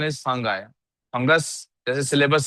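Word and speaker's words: fungi: नहीं, इफ यू the real pronunciation is फंगाई।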